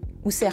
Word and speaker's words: Ouser: La version égyptienne serait plutôt Ouseret. Enfin, Ouser, pardon. Pas Ouseret, Ouser.